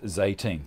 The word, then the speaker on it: Zeytin: It's a human bed scale down for a cat called named Zeytin, which means olive in Turkish, pronounced Zeytin, T-E-E-N.